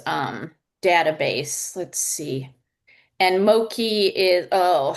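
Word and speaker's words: Moqui: And Moki is Oh, how is this spelled? It's not ML Ki. It's M M M O Q UI. Yes, mui.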